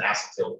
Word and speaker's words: acetyl: much as possible and we're adding an acetyl group sometimes pronounced an acetyl group depending on who you're talking to and you get acetic